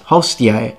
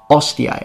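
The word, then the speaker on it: hostia: dropping the h's and they tell us it's supposed to be pronounced hostier not ostia and they specifically drop the h to tell us that that's the incorrect one and we see that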